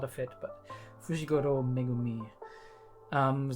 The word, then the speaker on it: Megumi: actually yeah okay I I said him his name wrong megumi uh got to try to keep that in